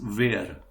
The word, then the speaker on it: wer: confusing, like who is where. Yeah. Now make sure that we pronounce it as where, W-E-R, but it is not where.